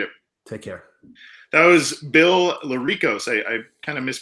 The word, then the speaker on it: Lericos: go by my my full name last name is pronounced la Rico's and we have all